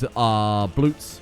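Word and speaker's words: blót: So that is bloots, or blots as it's spelled in this game.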